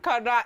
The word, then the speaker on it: Connor: It's Connor. It's C-O-N-N-O-R. It just depends on. I always say pronunciation depends on where you school.